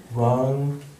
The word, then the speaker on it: Rang: Rang, R-A-N-G. Like if we're just, you don't mean in Tibetan, you mean like phonetically, right? Yeah. R-A-N-G, Rang, not Rang, as in wrangling and ding-dong.